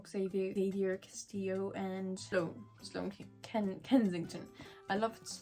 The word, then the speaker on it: Xavier: Anyway, the King of Stuff, the 4th in the Kings of Sin series, and this is following Xavier, how do you say it? Javier, because he's not English. Xavier Castillo and Sloane Kensington.